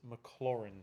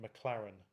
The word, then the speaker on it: Maclaurin: on YouTube or whatever you hear them say McLaren like race climber Clare and it's not McLaren its Maclaurin McClure in like not like chlorine floor in my bin dustbin Rinne Maclaurin doesn't matter if you